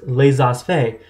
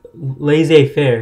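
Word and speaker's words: laissez-faire: conservative because it says lesos faye i'm saying it wrong i know i don't take french sorry guys but lays us lays off laissez faire here you go lazy affair and which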